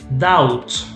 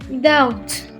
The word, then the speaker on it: doubt: just like almond we don't pronounce the l is silent okay doubt doubt so the be silent again what's that doubt is like when you don't know something you